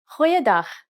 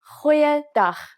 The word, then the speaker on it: goeiedag: Try pronouncing it from the back of your throat. Goeiedag, goeiedag, ek is Anne-Marie Luck.